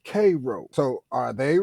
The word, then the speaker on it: Cairo: one place called Cairo if you look up Cairo on the map the people there call it cro so are they wrong